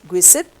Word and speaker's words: Giuseppe: Okay, this is pronounced as Giuseppe Mazzini. Mazzini.